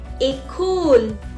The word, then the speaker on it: école: It makes the pronunciation of E as A. A. For example, été. Été. Été is summer. École.